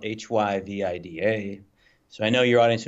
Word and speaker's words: HyVida: So Hy Vida. So it rolls off. It's 3 syllables.